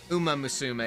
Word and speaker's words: Uma Musume: Uma Musume is the technically right pronunciation, but I like pronouncing it wrong because it sounds better.